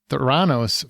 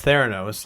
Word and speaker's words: Theranos: Kate McKinnon turns to drama and stars as disgraced Theranos founder Elizabeth Holmes.